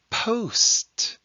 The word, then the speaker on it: post: oh and it is post post is an exception because we're pronouncing a long o song we don't say